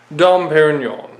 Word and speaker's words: Dom Pérignon: pop some bottles today dump Aaron Yan was proper pronunciation don't get me wrong